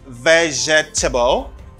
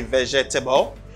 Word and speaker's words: vegetable: word for this word the problem some people pronounce all the syllables that they see on this word no let me show you you don't say vegetable because you don't pronounce this syllable but the vegetable you